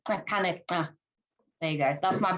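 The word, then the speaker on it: Xakanaxa: So locally, the X's are clicks, so it'd be Kakanika.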